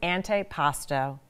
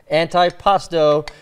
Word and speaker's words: antipasto: Okay, now I noticed you very carefully pronounced antipasto, where we could have driven a couple, we could have driven all the locals crazy, a couple of New Yorkers saying antipast.